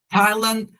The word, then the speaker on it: Thailand: Lighthouse, lighthouse, como é uma junção de duas palavras, também não vai ter a pronúncia do TH, da mesma forma como rat hole, Thailand e close.